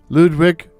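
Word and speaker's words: Lodowick: commander, Major Ludwig Morgan, Ludwig being spelled Lodowwick, but I'm assuming it's pronounced Ludwig.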